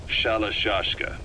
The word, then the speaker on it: Sharashka: Someone must have known about that because somewhere along the line, Shashka got stuck on the end of Sharashka. The gorillas were using the name amongst themselves. By the time I got to hearing about it, pronunciation had wound up as Shalashka.